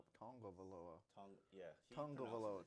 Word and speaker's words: Tagovailoa: It's Tongavaloa. Yeah, he Tongavaloa.